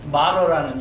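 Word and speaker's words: martyr: 말어라는 영어로 미국식 발음으로 말어 말 이제 헬라는이 뜻이에요.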